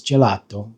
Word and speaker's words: gelato: Um, the e is pronounced e and then the a, the English a, um, is pronounced a, and then the o is more of an open o o.